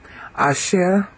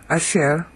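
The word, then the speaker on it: אשר: AER KY is because AER here it's um accented U on the last syllable AER means who which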